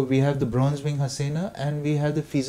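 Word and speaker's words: jacana: goa called a-- Hasina it's spelt as j AC and it's g AC a na but ours is the spanish name so it's Hasina so we have the bronze being Hasina and we have the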